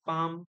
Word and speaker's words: palm: L is silent in palm, calm, half and all.